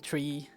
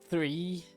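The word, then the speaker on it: three: it wrong sometimes, because I would be saying tree, as in like the thing that grows from the ground, instead of 3, or however it is.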